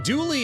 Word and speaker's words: duly: Is it duly noted like owed or duly noted like challenging the statement to a duel? Because I always thought it was the latter. I mean, douly is spelled d u l y. And uh yeah, it's more like do like d u e.